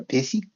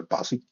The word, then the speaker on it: Basie: sure your time uh people always ask me how to say basy because the Aussies will go py and the kiwis will go Buzzy um yeah so um it's